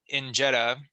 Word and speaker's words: injera: You shared with us that the injera, the flatbread, if I'm pronouncing that right?